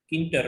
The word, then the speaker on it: Tkinter: Now another is neater, where a capital T is silent, so it is known as a Kinter, right?